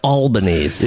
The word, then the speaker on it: Albanese: so far, Except it's pronounced Albanese. Yeah, could be. Yeah, it could be. Oh, it's really pronounced Albanese. Is really how it's supposed to be pronounced.